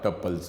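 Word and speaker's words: tuple: Records, fields, entities या टपल्स। कोई इसको टपल प्रोनाउंस करता है, कोई इसको टूपल प्रोनाउंस करता है।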